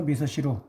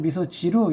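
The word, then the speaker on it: 味噌汁: 된장국을 그래서 미소시루, 따라해봅시다. 미소시루. 여기서 발음이 붙어가지고 미소지루 이렇게 말하기도 하는데요. 엄격하게 말하면 시와 지의 중간 발음 미소시루하고 미소시루 이렇게 살짝 넘어갑니다.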